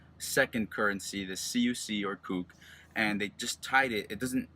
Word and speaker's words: CUC: in Cuba the CUC which is pronounced coupe is the currency code